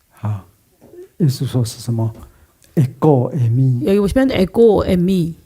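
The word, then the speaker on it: ἐγώ εἰμι: 에고 애미 에는 이거 그 발음이거든요. 에고 그래서 액센트가 뒤에 있으니까 에고 에 에 미 미 어 에고에미 에고에미 세 번 읽어보도록 하겠습니다.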